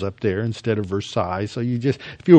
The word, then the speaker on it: Versailles: just gagged on that but they also have versales up there instead of Versailles so you just if you were educated you